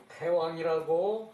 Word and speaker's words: 태왕: 태왕의 본호이고, 후내 추존 위태왕냐, 후에 추존을 해서 태왕이라고 하였다. 왕호를 왕호가 처음에 고공이었는데, 후세에 추존을 해서 태왕이 되었다. 대왕이라고 써놓고 태왕이라고 읽는다 했죠, 그죠?